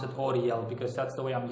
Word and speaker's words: Uriel: of his skillset Oriel has more again you pronounce his name audio you can also say UDL that's the way it's literally written down it's felt you are ie l but I simply pronounce it ODL because that's the way I'm used to pronouncing